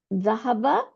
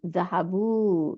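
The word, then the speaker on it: ذهبوا: Note that there is an Alif at দ্য এন্ড অফ the word which is not pronounce.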